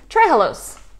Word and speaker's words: trehalose: Trehalose. It's like three hellos.